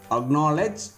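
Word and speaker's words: acknowledge: அப்போது lock, black, buck, clock, அக்னாலேஜ், acquit, இந்த மாதிரியான வேர்ட்ஸில் என்ன ஆயிடுதுங்க, சி சைலண்ட் ஆகிடுது.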